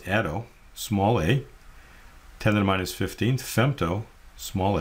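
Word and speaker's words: atto: with this first one here is 10us 18th pronounce Ado small a 10-5 fto small F 10- 12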